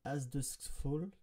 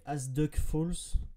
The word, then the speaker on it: As Dusk Falls: Pendant longtemps, en fait, je l'ai appelé As Duck Falls. Et en ayant lu très très rapidement, et en fait, non, c'est As Dusk Falls.